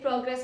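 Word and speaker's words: progress: शी has made a great प्रोग्रेस in maths. Okay? Then is pronunciation two इज़ प्रोग्रेस।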